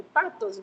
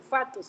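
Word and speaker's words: pathos: Y eso tiene que ver con el patos, ¿verdad? Que el patos era, bueno, el fatos en realidad se pronuncia.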